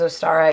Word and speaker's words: Ostara: equinox celebration so um but ostara we're going to refer to it as astara even though in different